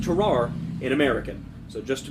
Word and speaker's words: Tarrare: Now, his name is pronounced differently in French, but I am not French, so it will be pronounced Tarrare in American.